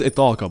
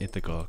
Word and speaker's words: Ithaca: I thought God Ithaca it is italka by the way I don't know why people started pronouncing it Ithaca because they all are stupid as hell laughs foreign they just